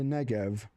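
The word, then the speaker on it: Negev: Restore our fortunes, oh Lord, like streams in the the negv."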